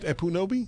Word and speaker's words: Ekpunobi: By the way, the K is not pronounced. Oh, really? It's just Epunobi? Yeah. Oh, cool. So it's like K in knowledge.